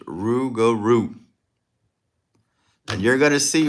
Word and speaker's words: rougarou: It's pronounced Rougarou.